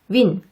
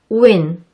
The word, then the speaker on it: win: 흔히 이 단어를 win 이렇게 발음하시죠? 하지만 이 소리를 할 때 입술을 앞으로 충분히 내밀지 않으면 원어민의 귀에는 어색하게 들린답니다. 정확하게 발음하려면 입술을 앞으로 충분히 내민 상태에서 우를 발음하고 단모음 I의 소리를 내는 겁니다. 단모음 I의 소리 기억하시나요? 알파벳 I를 마치 예처럼 소리내는 거였죠? 그러면 우, 이엔처럼 소리가 난답니다. 우 발음할 때 입술을 충분히 앞으로 내밀어 주세요.